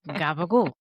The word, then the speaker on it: gabagool: So that was just Tony Soprano saying Gabagool. Yeah. So Go Gabagool ahead. is an Italian-American pronunciation of the word, what, Kelly?